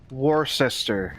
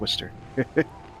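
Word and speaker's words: Worcester: Like I said last week, I still remember the place that looks like Warester in the east coast. Just pronounced It's just Yeah, it's just pronounced Wister. Worchester.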